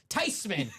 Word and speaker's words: Theismann: He goes, it's Theismann.